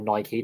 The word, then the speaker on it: Nike: a lot of companies not just not just Nike or Nike depending on how you pronounce it a lot of um leagues and